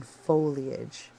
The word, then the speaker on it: foliage: years because I emphasize I emphasize the I in foliage. I say foliage, but I hear other people say they kind of gloss over the I.